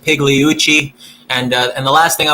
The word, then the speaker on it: Pigliucci: And the name is pronounced Pigliucci.